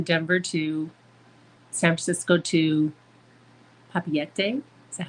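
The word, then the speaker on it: Papeete: the flight from Denver to San Francisco to Papiete.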